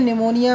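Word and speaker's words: pneumonia: प्लू निमोनिया य प प में निमोनिया में पी साइलेंट होता है तो निमोनिया प्लूरोनिक प्लूरोनिक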